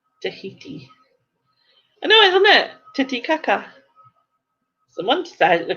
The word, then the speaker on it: Titicaca: It is spelt Titicaca. I'm telling you, it's called Titicaca. Titicaca.